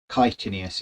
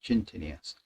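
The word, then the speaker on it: chitinous: He uh he says uh I'm just writing to tell you it's kitin because he should have pronounced it kitinius instead of chintinius.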